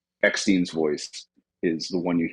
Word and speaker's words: Eckstein: I do wish Ashley, I think Eckstein is how you say her last name, the voice of Mm.